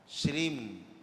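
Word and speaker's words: श्रीं: तो सभी लोग अपना शुद्ध उच्चारण करके, जैसे श्री लिखा होता है, अंग की बिंदी रखी है, तो उसको हमेशा श्रीम, माँ आखिरी में मुँह से निकले माँ, श्रीम श्रीम ऐसे पढ़े।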